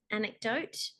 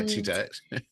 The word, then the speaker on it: anecdote: the retelling of this anecdote. Ah, Anecdote. Did I say it right the first time? anecdote, yeah. Anecdote. Not Um, antidote.